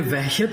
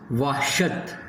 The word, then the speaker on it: وحشت: یہ وحشت نہیں ہے بلکہ کیا ہے؟ وحشت.